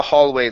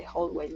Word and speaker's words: hallway: mom turns on the hallway light my mom turns on the wholeway light okay uh open up nice and wide instead of whole ha ha Hall my mom turns on the hallway light my mom turns on